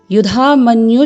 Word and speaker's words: युधामन्यु: अर्ध तालाब कुएं शब्द अर्थ वर्णों के उच्चारण में हमें इस बात का ध्यान देना होता है कि इसके उच्चारण के समय हम कम समय दें तो हम इसको इस प्रकार बोलेंगे युधामन्यु शब्द झाल मनुष्य विक्रांत